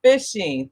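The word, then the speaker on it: phishing: you jessica you know it says ph i guess that's pronounced like an f so fishing thank you thank you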